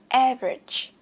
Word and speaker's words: average: Average height, bật âm tên cho mình. Average, cho âm 1.